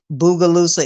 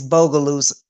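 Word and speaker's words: Bogalusa: I pronounced it Boogaloosa. It's Bogaloosa.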